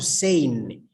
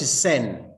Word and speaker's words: sane: And when it comes to sane, and Napio pronounced this very well, I loved it. Sane, not sen, it is sane.